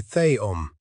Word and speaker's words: Theom: Ang akong nalan kay theom, the man said, pronouncing it slowly so Utmoah could hear the sounds.